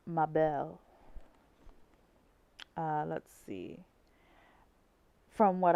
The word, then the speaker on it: Mabel: mispronouncing her name um I see as an American I see mayel but it's Mel uh let's see from